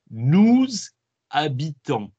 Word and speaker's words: habitons: Okay, so it's nous, and then it's as if the H isn't there. Habitons, nous habitons.